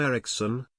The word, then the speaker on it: Eriksson: soron Eriksson soron Ericson Swedish pronunciation the 5th of February 1948 the 26th